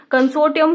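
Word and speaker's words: consortium: कंसोटियम का मतलब आर जो है यह साइलेंट है।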